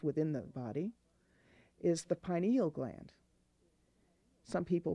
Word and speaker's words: pineal: final chakra that's within the body is the pineal gland some people pronounce it penny alai think but it's pineal and you might think of it easier pronouncing